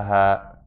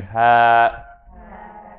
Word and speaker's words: ه: And that's the ha. Everyone say for me again, ha, ha.